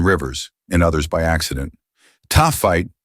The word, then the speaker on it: Taaffeite: Taaffeite, pronounced Taaffeite, belongs to the last category.